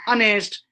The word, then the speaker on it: honest: Sometimes yes, sound is not pronounced. Yeah, as, are, ana, honest, air, hubs.